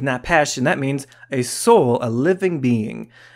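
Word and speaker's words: nephesh: Well, that word is often napesh. I'm not pronouncing it perfectly, but it's napesh, and that means a soul, a living being, a life, self, person.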